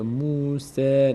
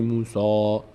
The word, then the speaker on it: موسی: اومده اومده اومده موس سین از اون حروف نیست از اون هشت حرف صاد هست سین نیست این از اون هشت حرف نیست پر خونده نمیشه میشه موسی نمیگه موسا موسی موسی موسی لقوم مهی